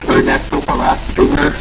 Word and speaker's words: Ernesto Palacios: It's Ernesto Palacios.